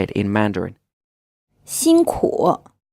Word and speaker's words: 辛苦: 辛苦 This word is pronounced with a 1st tone, then a 3rd tone, and it means hard work or hard working.